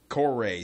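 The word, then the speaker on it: Coray: Corey, C-O-R-A-Y. I would pronounce it like okay. that.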